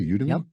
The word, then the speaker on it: Udemy: courses on LinkedIn skillsoft and udemy am I pronouncing that correctly you to me yep a former Green Beret and founder of